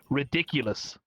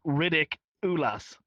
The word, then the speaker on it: Ridik_ulass: people actually know that his name is Ridiculous. They think it's Riddick Ulas.